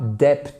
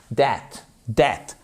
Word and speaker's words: debt: C'est pas dep c'est that dat.